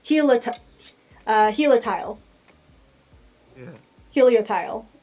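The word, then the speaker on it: Helioptile: uh hel tile yeah Helio tile I think is how you're supposed to pronounce it it is a little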